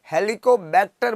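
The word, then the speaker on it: Helicobacter: हेलिकोबैक्टर बोल रहे हैं हम, ये लिखा हुआ वही है, हेलीकॉप्टर नहीं है।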